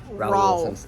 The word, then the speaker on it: Raul: And then we got some Carhartt stuff for Raul. Since Raul. No, it's like Paul, but Raul. Raul.